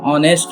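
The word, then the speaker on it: honest: एन ऑनेस्ट मैन। यहां पे S silent रहता है।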